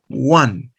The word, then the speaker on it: one: Porque esta palabra cuando la pronuncio, comienza con la consonante, el sonido consonántico wo, wo, wo, one. One, no digo an, digo one. Comienza con la consonante wo.